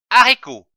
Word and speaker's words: haricot: sortir de votre bouche attention lorsqu'un mot commence par la lettre h le h ne se prononcent pas exemple haricots un haricot je lis une syllabe